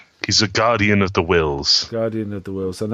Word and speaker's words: Whills: He's a guardian of the wills. Guardian of the Wills, and that's spelled WHILLS.